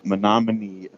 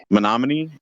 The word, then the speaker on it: Menominee: Menominee? Sounds like we always pronounce it sounds like Menominee. men here. amongst me. Sounds like the men amongst me.